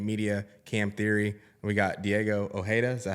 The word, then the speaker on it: Diego Ojeda: co-host of opinionated media cam Theory we got Diego OA is that how you pronounce it yes sir all righty so we